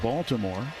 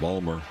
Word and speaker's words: Baltimore: We'll have a road trip Pittsburgh and Baltimore. First week of September. And Balmer. Baltimore. The locals don't have a T in it.